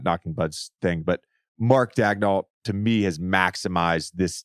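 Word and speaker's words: Daigneault: a press release where they said it's Mark dagdoll and then if you just Google how to pronounce Mark dagnoll it's different it's a French pronunciation it's a great one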